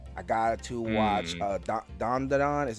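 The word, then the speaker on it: Dandadan: metal alem's Brotherhood I got to watch uh dondon is how how you pronounce it dondon dondon yep dondon okay dondon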